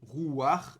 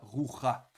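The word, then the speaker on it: רוח: Donc par exemple, si vous avez rouar, comme ceci, vous connaissez rouar, l'esprit, vous avez ici un patar furtif et donc on prononce rouar et non pas roucha.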